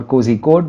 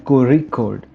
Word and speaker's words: Kozhikode: The technical term for this sound is retroflex approximant, and when transliterating in English, it is represented as ZH. So you must have come across these words like kanimozi or kozhikode, which are of course the wrong pronunciations of these words.